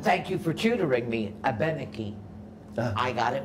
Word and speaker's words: Abenaki: She said, the correct pronunciation is Abenaki.